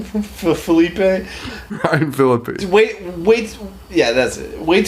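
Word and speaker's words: Ryan Phillippe: Ryan Philippe.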